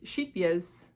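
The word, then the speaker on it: Scheepjes: And then we also got, okay, so now this is Sheepyez, that's how to say it apparently, which I learned at this retreat.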